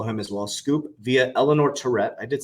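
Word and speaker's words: Eleanor Terrett: you go follow him as well scoop via Eleanor Tourette I did say it correctly the SEC is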